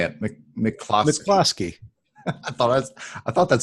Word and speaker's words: McCloskey: McCloskey.